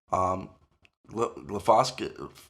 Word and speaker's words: glyphosate: Glyphosate, I can't pronounce it.